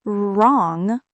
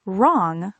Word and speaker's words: wrong: And not wrong, but wrong, because the W is silent.